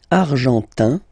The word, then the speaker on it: argentin: Argentin, in, gives you this un sound.